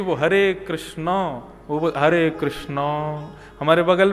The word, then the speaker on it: कृष्ण: इसीलिए कृष्ण शब्द का जो लोग कृष्णा उच्चारण करते हैं, वे सावधान रहे क्योंकि यदि मुक्ति मिलेगी तो वैुंठ में द्रोपदी आपका स्वी स्वागत करेंगी।